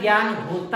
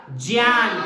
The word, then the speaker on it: ज्ञान: तो उसके हिसाब से तो बच्चा सही लिख रहा है, पर इसका उच्चारण ज्ञान होता ही नहीं है। इसका उच्चारण क्या होगा? ज्ञान।